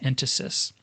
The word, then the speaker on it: entasis: swell in the center, and this is called entasis. I've also heard it pronounced entasis.